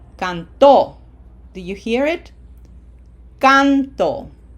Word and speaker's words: cantó: Can is emphasized. As opposed to the other way would be cantó.